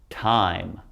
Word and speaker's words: time: Long vowel I with a silent E. So listen to me as I say these. We've got plain, time, cape, hope, tube, bite, cute, and ripe. Never did I say the E because it's silent.